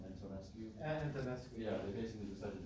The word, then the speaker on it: Antonescu: Antonescu.